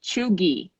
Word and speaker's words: cheugy: But actually here, what they're calling it, the same expression would be chuggy, okay? What? And there's another word, that chuggy. How do you spell it?